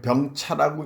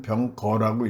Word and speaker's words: 병거: 이게 병차라고 읽으면 안 되죠. 이때는 병거라고 읽어야 됩니다.